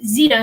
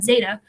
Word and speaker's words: Zeta: zeta zeta jones which i found out i've been mispronouncing all this this time it's zita not zeta um it has catherine